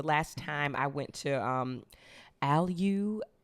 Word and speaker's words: Allyu: Like the last time I went to Alyu is maybe how it's pronounced. It's spelled like ALLYU spa.